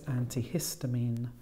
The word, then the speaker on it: antihistamine: and then we had antihistamine this time the stress is on the middle syllable it's five syllables so it's antihistamine we then have gastrointestinal